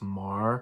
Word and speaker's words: Meagher: Brigadier General Thomas Meagher, whose troops had placed his name's actually pronounced Thomas Marr.